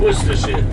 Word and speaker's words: Worcestershire: Worcestershire. Worcestershire, basically, is how we pronounce it.